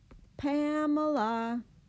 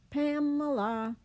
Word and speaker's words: Pamela: child, you would say, Pamela, Pamela. The Pam part is the longer part, and the other two syllables are schwad.